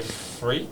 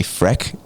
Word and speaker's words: Freq: Frequency and freak. Frequency, yeah, that's right. Yeah, so it's both. Yeah, it's both. Double and then the Dutchies that see it for the first time and try to pronounce it say Freck.